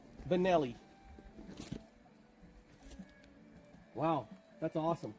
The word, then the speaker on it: Benelli: you are well no it's spelled a certain way and it's holy but it's Italian right so Benelli wow that's awesome it's